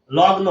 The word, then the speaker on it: লগ্ন: লগ্ন, দেখেন দন্ত ন উঠে যাবে, এই গ পুনরায় আবার গ আসবে, এখানে গ আছে, নিচে আর একটা গ আসবে, লগ্ন।